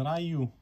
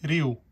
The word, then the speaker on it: Ryu: τον Γκεν χωρίς τον Ράιου. Το προφέρω λάθος, παιδιά, το ξέρω, αλλά είναι μια συνήθεια που δεν φεύγει με την καμία. Προφέρεται Ρίου, κανονικά, το όνομά του.